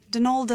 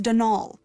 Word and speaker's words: Donal: that was the caretaker Donalda Lanie not Donald mind you there's no D at the end so it's pronounced dnal that's the way you're